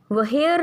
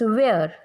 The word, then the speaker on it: where: जब भी H after W के बाद में आएगा तो ये साइलेंट होगा. ये एज इट इज़ इन वेयर, WHERE, वहेयर नहीं होता, इट्स वेयर.